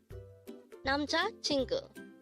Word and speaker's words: 남자친구: only here at day hangle word number 286 nam chingu nam chingu this word is composed of four syllables Nam Chu pronounce it with me nam